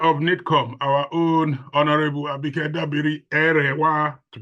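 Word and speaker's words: Abike Dabiri-Erewa: The Honorable Minister, the Controller of the Nigerian Immigration Service, and of course, the Chair of NITCOM, our own Honorable Abike Dabiri Erewa, to pronounce it properly.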